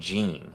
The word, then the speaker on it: Jin: He's He kept saying Jean. I always thought it was Jin.